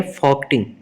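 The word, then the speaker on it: Folketing: 12 का सी सही है, फॉक्टिंग, एल साइलेंट है इसमें।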